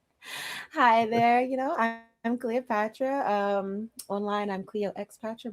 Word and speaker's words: Cleoxpatra: You know, I'm Cleopatra. um online. I'm Cleo Xpatcher, but the X is silent.